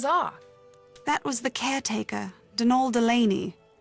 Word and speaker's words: Donal: that was the caretaker denol Delany not Donald mind you there's no D at the end so it's pronounced denal that's the way you're